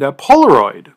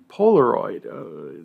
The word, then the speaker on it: Polaroid: You might have heard of Avon and Xerox and Polaroid. Polaroid. The name still lives on, but the company's been gone for decades. I wouldn't want to invest in a company whose name rhymes with hemorrhoid.